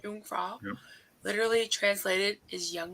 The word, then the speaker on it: Jungfrau: In German, the word for virgin is also, how do you pronounce that? Jungfrau. Jungfrau.